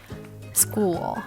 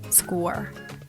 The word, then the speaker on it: school: girl and vowel vowel don't simply omit this sound it's supposed to be obvious in the words school instead of school school school and also definitely don't draw back your tongue don't sound like score girl score vowel that's definitely